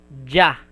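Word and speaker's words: じゃ: And you put ya, small ya, it will be pronounced as ja.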